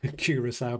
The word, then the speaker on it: Curaçao: I looked up how to pronounce Curaçao before making this video.